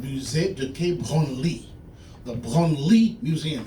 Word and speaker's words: Branly: The Branly Museum. It's pronounced Branly, not Branley.